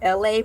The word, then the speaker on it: Elay: Hi, I'm your host, Elay, pronounced like LA, like the city.